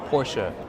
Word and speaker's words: Porsche: You see the sign, Porsche, that's how you say it.